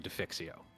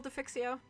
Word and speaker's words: defixio: get the kind of concept of building a defixio right yeah yeah how do you spell defixio uh d e f Def IX IX i